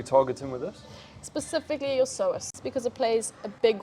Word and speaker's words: psoas: And psoas is spelled with a P. That's Silent my P.